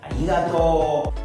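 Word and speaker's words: ありがとう: Esa raya indica que esta O se va a prolongar por un tiempo más largo de lo habitual. Por ello, esta palabra se va a pronunciar arigato.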